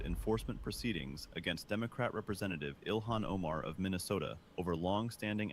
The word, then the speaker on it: Ilhan: Did she say Elon? It's Ilhan. Trump calls her Elon, too.